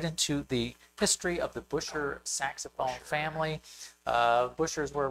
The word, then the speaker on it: Buescher: The correct pronunciation of this family name is Bisher. Is it Bisher? Yes. I think most people I know you and I both say Busher.